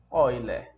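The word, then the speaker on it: Euler: um matemático chamado other a escreve eu né é mas se pronuncia other Tá ok então bora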